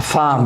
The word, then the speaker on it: femme: comme dans le mot femme, la femme. Femme, vous dites la femme. Je l'écris avec un E, mais je le prononce A. Mais il se prononce A. La femme, vous dites.